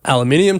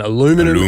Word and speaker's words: aluminium: But the news of the week is that uh they raised the steel and aluminium tariffs or as the Americans say steel and aluminum tariffs uh from 25% to 50%.